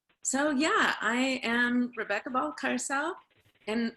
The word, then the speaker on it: Balcárcel: yeah i am rebecca balcarcel and the pronunciation is it's like the ball in the car a new ball carcel and i actually have